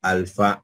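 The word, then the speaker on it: ἄλφα: tenemos la Alfa mayúscula y aquí tenemos la Alfa minúscula tu sonido lo representamos con el fonema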